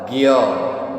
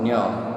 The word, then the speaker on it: ज्ञ: बट when you speak in Hindi or in Sanskrit, it is called Gya, not Gnya.